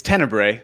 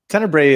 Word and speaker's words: Tenebrae: Yeah, so it's Tenebrae. That's how at least I pronounce it. Tenebrae is sort of an ancient service that celebrates it.